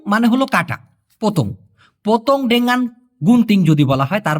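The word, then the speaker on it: dengan: সঠিক উচ্চারণটা হচ্ছে ডেঙ্গান। ডেঙ্গান।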